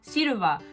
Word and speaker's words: Silva: Lo que pasa es que Silva, cuando lo escribes y lo pronuncias, suena muy parecido a lo que sería silver, que es plateado, porque es Silva y silver es Silva. Es como nada más extiendes un poco más la A del final.